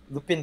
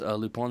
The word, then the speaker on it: Lupin: I used to pronounce it Lupin for a while, but it's actually Lupin. That way, it's a French name.